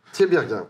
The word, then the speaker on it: Tiberghien: Presque, mais bon. Comment on dit? Tiberghien. Tiberghien. Comme Enghien-les-Bains.